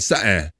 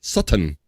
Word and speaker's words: Sutton: Stroop tends to gloss over the T's, so it sounds like she's saying Sutton, Sutton. However, some people go hard on them T's and call her Sutton.